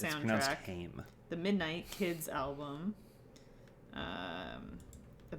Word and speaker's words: Haim: Gone, Haim album, the Booksmart soundtrack, Mulan It's pronounced soundtrack, Haim.